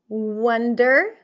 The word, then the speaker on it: wonder: say it out loud Wonder wonder wonder wonder so here it's a little confusing because this is a cup sound wonder I wonder what